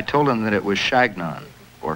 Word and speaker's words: Chagnon: my name I told him that it was Chagnon or Shenyang but they couldn't pronounce it it sounded to them like they're